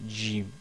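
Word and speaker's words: جيم: exactement la même chose il faut essayer de prononcer Jim au lieu de Jim donc c'est Jim Jim vous attachez votre langue au au palais si vous arrive pas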